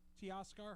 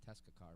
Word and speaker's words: Teoscar: Teoscar Hernandez. Yeah, Hernandez. I was going to say Tescacar, but I'm like, that's not right.